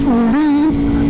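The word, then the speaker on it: Öhlins: in Sweden and they told me that it's pronounced Ulin but the suspension is absolutely amazing absolutely amazing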